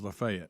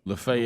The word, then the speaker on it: Lafayette: The one in Alabama is Lefay. Lefet.